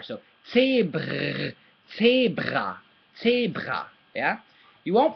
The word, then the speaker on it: Zebra: But the E as well is not pronounced E anymore, it's pronounced A.